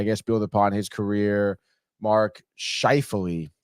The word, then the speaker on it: Mark Scheifele: Mark Scheifele, that's how you say his name.